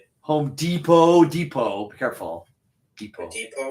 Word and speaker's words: Depot: Home Depot. Careful. depot. It looks like deepot, but it's pronounced depot.